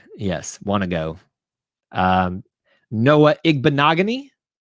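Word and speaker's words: Igbinoghene: Noah Igbenogany. I used to call him Igbenogene because I couldn't pronounce things. Igbenogany.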